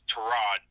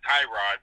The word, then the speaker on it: Tyrod: to Rod Taylor and it's Tirat not Tyrod we've been saying it wrong all these years that's toe rod Rod Taylor is going